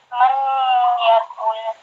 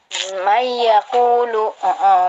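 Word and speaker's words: مَنْ يَقُولُ: Man yakul. Kok man? Kok bacanya man sih? Yang benar. Yakul. Mayyakulu.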